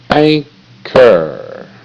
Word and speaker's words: anchor: Anchor, anchor. Okay, now stay on the syllable. See the H? The H is silent, so it will not go in the sound box.